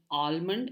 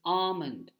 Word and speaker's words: almond: some dry fruits the L is silent so don't get fooled by the L and don't call it almond it is alond there lots of words